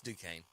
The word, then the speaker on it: Duquesne: He's like, "It's Duquesne."